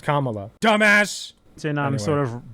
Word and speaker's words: Kamala: learned he's mispronouncing it I was pronouncing it Kamala it's pronounced Kamala dumbass so I'm sort of branding Pokémon go